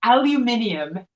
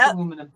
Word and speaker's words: aluminum: My favorite is aluminium. Aluminium. I'm like, it's aluminum, people. Aluminium just is way too many syllables to say.